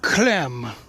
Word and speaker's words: Clem: Hello, my name's Clem. It rhymes with phlegm, and I'm digging a grave.